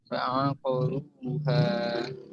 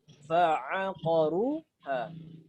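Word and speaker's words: فعقروها: Ketika huruf ain berada di samping huruf tebal, jangan dibaca tebal. Contoh ini. Apa bacanya? Fa'aqaruha. Gimana bacanya? Fa'aqaruha. Yang salah bagaimana? Yang tebal. Fa'aqaruha. Nah, mana huruf tebal di sini? Fa atau qaf? Qaf. Nah, jangan antum baca fa'aqaruha.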